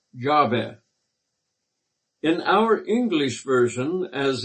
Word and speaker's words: Yahweh: Most probably it should be pronounced Yahweh.